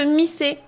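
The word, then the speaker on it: 店: C'est différent de Mise. Alors, Mise, donc le magasin tout court, qui peut se prononcer ten, son autre lecture.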